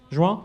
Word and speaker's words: Juin: Rouen, c'est comme ça qu'on prononce ? Juin ? Ah, pardon, Juin, excusez-moi.